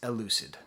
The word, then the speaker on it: Elucid: I know his name is pronounced Elucid, and I'm going to be reviewing his album I Told Bessie.